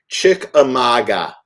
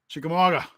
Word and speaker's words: Chickamauga: hear that yeah and let me just say it correctly because since i said it wrong in my video consistently chick amaga sorry chickamauga i say chickamagua or